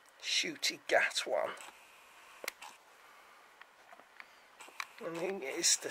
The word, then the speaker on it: Ncuti Gatwa: Ncuti Gatwan is how his name's pronounced. Ncuti Gatwan.